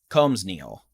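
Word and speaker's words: Colmesneil: So, Comus nil. Comus nil? Comus N-E-L. Combs Neal. The S is silent.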